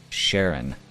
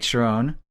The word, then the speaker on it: Sherron: But Sherron. Oh, it's pronounced Sherron, but thank you.